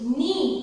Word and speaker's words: knee: Next is knee. K-N-E-E. यहाँ पे हम knee नहीं बोलेंगे, this K is silent, so हम इसको क्या बोलेंगे?